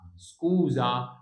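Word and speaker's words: scusa: هنا الزد اهي اس ما بين متحرك ومتحرك يبقى اسمها سكوزا.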